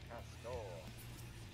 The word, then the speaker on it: castor: Pronounced the same way, like someone would say cast in a really stupid accent, though. Castor. Well, stack then spread. I said it wrong. Support the DPS. Stack. Castor.